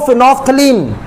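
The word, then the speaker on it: phenolphthalein: फिनोफ्थलीन क्या spelling होगी? फिनोफ्थलीन। इसको पढ़ने का पढ़ेंगे इसको फिनोफ्थलीन।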